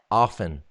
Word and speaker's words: often: I'm still at the stage, and I think the T is silent. What? Often.